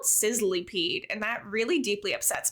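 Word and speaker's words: Sizzlipede: on your sizzly peed I always read it as Sizzle peed but it's spelled sizzly peed and that really deeply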